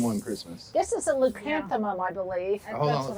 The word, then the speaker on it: Leucanthemum: so you have to say that name again because I want to be able to pronounce it. Leucanthemum. Leucanthemum.